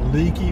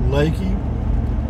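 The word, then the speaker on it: Leakey: and then over to it's spelled l-e-a-k-e-y like leaky but it's pronounced lakey go to lakey and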